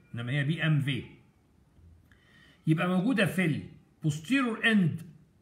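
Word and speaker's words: BMW: الفيرنكس هي الفهامه، هو بيتكتب بالدبليو بس لانه الالمانيه الالمان بينطقوا الدبليو زي بي ام في، بس احنا هنطقها بي ام دبليو انما هي بي ام في.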